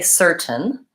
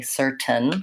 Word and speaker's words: certain: hard okay yes so certain it looks like we should say certain and in certain situations you can say that T sound people will understand you but you've probably noticed Americans don't really say certain with a nasty rated T sound we tend to say certain what that is is that we're stopping the T so instead of SERT